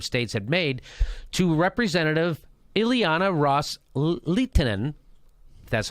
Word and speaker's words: Ileana Ros-Lehtinen: Qataris Sunni Arab states had made to Representative Ileana ros-lehtinen that's how you say her name quote with